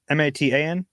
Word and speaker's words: Matan: First one from Maton, I believe that's how you pronounce Maton, that. M-A-T-O-N? M-A-T-A-N.